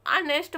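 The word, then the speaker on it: honest: है ईमानदार ठीक है इसमें नेस्ट नहीं इसको नेस्ट पढ़ा जाता है एच को साइलेंट रहता है ओ से प पढ़ना शुरू करते हैं तो ऑनेस्ट मतलब होता है ईमानदार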